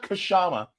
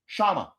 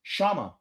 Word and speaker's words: Kshama: The K in the front is silent. Okay? It's not Kshama. It's Kshama.